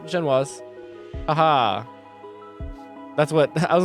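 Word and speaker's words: génoise: A Genoise? Genoise? That's what that word looks like it said. Oh, I said it right. Genoise.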